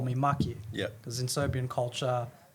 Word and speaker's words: Maki: Maki. Nate, We spoke about this before, but which one do you prefer? we can go with Maki. Maki? Yeah, rhymes with lucky.